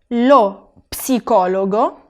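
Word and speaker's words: psicologo: psicólogo lo psicólogo y fijaros bien que la p la tengo que pronunciar en español no la pronunciamos decimos por ejemplo psicólogo sin la p en italiano no en italiano se tiene que pronunciar lo psicólogo lo neumático lo neumático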